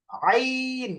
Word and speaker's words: عين: আইনটা ভালো করে উচ্চারণ করতে হবে। আ। আ। আ গলার মাঝখানে আ। আইন।